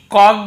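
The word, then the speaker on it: caught: किया, डोंकी को पकड़ा, यहाँ पे जी का उच्चारण नहीं होगा, आप जो साइलेंट लेटर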